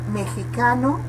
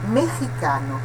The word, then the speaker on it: mexicano: Aqui, o X, ele tem a pronúncia aspirada, mexicano. Poderia pronunciar-se mexicano, mas se prefere utilizar a pronúncia meji, como se fosse a pronúncia do argentino, que pronunciamos como Leo Messi, né? Neste caso, ji em vez de G, ok?